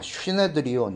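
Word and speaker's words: συνέδριον: 그러니까 슈네드리온, 이렇게 원래 발음은 좀 그런데요.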